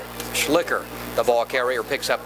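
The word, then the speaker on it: Schlicher: what's possible i believe the pronunciation is slicker c h e s-c-h-l-i-c-h-e-r j schlicker the ball carrier picks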